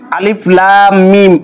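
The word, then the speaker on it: الم: উচ্চারণ করতে হয় এবং এই ধরনের মোটা চিহ্ন থাকলে চার আলিফ করে টানতে হয় সুতরাং আলিফে টান হবে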